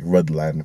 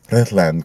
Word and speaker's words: Rhuddlan: It looks like it's spelt like Rhuddlan, but it's Rhuddlan Castle.